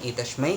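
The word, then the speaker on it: एतस्मै: तो ये हो गया हमारा तीसरा सवाल कि आप जो है देवी पूजन में एतश्वई कहेंगे और देव पूजन में एतश्मयी कहेंगे। वैदिक पूजा आदि में देवी हो या देवता उसमें एतश्मयी बोला जा सकता है, और एतश्वई भी अगर आप कहते तो वो भी सही होता है।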